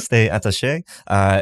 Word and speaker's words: Stay Attache: Tim is the owner, president of Stay Attache. Is that correct? How you pronounce it? That's right. Yep. Stay Attache.